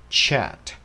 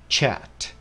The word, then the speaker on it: chat: Nhưng đọc đúng, đọc chuẩn phải là chat, chat, nó dài hơn một chút và nó êm hơn một chút ha, chat, các bạn nha.